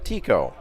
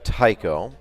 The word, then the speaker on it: Tycho: wife is Danish, and in Denmark it's Tico, but in Star Wars it's Tycho. So she will accept either pronunciation so long as it's Co and not Cho.